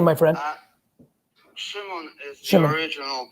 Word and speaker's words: Shimon: Shimon is Shimon. the original pronunciation. I go by Simon.